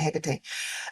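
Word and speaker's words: Hecate: HEC and I realize some are gonna say it's heate but I've always pronounced it HEC um and a set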